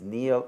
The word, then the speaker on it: Niall: i know that uh your name is neil and not niall even though that the pronunciation nile is quite common it's a great source of frustration to me that half the world calls me nile which is of course a river in egypt well that's that's probably